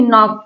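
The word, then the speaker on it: knock: करना यहां पर देखिए नॉक के एन ओ सी के यहां पर एन के पहले के आया तो के साइलेंट है यहां पर भी एन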